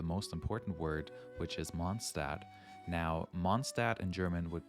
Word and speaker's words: Mondstadt: with arguably the most important word which is monstad now monstat in German would be monster and that translates into Moon City or city